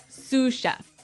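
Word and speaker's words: sous chef: Sue cheef. Sue cheef. S o u s. So the s is silent because it's like a French word. Yeah. Something like that. Okay. So the sue chef is the second in line to the head chef.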